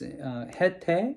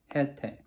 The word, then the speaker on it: Haitai: I don't know how to pronounce it in English, but it's HaiTai in Korean word, HaiTai.